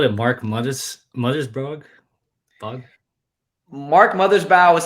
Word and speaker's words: Mothersbaugh: Mark Mothersbaugh is how it's said, but the answer is Michael Giacono.